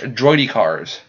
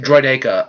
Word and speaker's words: droideka: no idea it sounded for the longest time I call it droidy cough droidy cars because they're rolling around your car yes i know it's troy to cause we're the what's the other name droideka or destroyer droid or